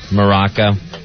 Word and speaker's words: Morocco: And isn't it just really Morocco? The way it's pronounced. Yeah. You don't actually hit the Moor really hard in Morocco.